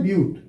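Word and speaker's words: but-: 4 है तो क्या हो जाएगा आपका, इसको बट नहीं बोलते हैं, इसको पढ़ते हैं ब्यूट, इसलिए लिखते हैं हम क्या, ब्यूट बोलते हैं, ठीक है ना।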